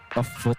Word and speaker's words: FUT: Foot esports, love it. It's not, you would first hear F-O-O-T or foot, but then when pronounced properly, foot esports rolls off the tongue.